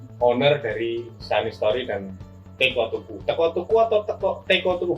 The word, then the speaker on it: Teko Tuku: Nah, Om Widi ini owner dari Sunny Story dan Teko Tuku. Teko Tuku atau Teko Tuku bacanya Om?